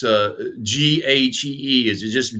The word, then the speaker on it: ghee: And how did you pronounce it again? Ghee. Ghee.